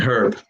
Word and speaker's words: Herb: Job, polish, and herb are all pronounced different when the first letter is capitalized, because now you're Job, Polish, and herb.